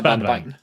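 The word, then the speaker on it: Bandvagn: So the the Bvagen um Bvagen Sweet pronounced BandVagen. Bunvagen.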